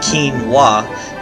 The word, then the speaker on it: quinoa: Pronounced quinoa, it sounds like something you might hear out of Bruce Lee just before he clears a room full of opponents.